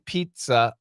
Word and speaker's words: pizza: it can be uh why do we pronounce te in Pizza I'm curious about that because it's Italian the word is from Italy it's an Italian word and we use the Italian pronunciation that's why Leah it's